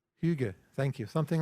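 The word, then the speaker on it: hygge: Finland they have a word I can never pronounce it properly but it's h y g g Huga thank you something like that it doesn't mean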